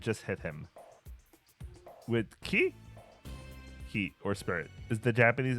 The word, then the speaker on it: ki: Ki, or spirit, is the Japanese and Chinese word best known to English speakers through the martial arts teachings that controlling your ki, pronounced the chi, can improve your skill and focus.